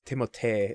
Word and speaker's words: Timothée: And like I said, it's Timothée. Like it's very French, obviously, because his parents are French.